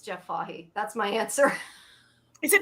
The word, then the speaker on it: Fahey: It's Jeff Fahey. That's my answer. Is it not Fahey? Is that not pronounced Fahey?